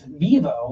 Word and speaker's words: Vivo: I say, like Fi, and then like wine, vino. Right. My name is Vivo, which means life.